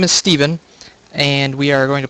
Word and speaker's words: Stephen: Hello everyone, I am joined by Jenadel, also known as Steven, not Stefan. I apologize, I mispronounced that. I've never seen PH pronounced as a V before. So his name is Steven, and we are going to play a game here.